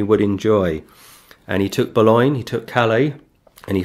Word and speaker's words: Boulogne: would pronounce it then, Boulogne. They pronounce the E, but today the E is silent.